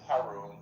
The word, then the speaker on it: Haroon: I think I mispronounced it earlier. It's so okay. It's My friends call me. It's Haroon.